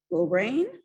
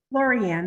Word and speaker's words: Lorianne: Lorraine? Is I'm pronouncing that right, Lorraine? Lorianne, that's fine.